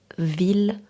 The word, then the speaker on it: ville: Malgré la présence de I de z, certains mots se prononcent avec le l simple comme il. Exemple à retenir ville.